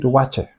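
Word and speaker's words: waakye: So, and they call it the wakye. The spelling is wakye, but they pronounce it wache.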